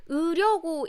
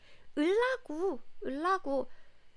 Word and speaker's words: 으려고: So 으려고 is a dictionary form. This is a correct form and this is the standard form. But in the spoken form, we also pronounce it like this. 을라고.